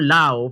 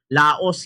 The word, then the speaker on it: Laos: Kasi ang alam ko law pero yung iba laos yung pag bigkas. Paano ba ma'am? Yes bombukier that's true. Ah Laos is the name of the country but uh pag dito ka na yung tawag sao law.